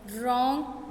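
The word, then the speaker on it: wrong: रॉन्ग, W is silent.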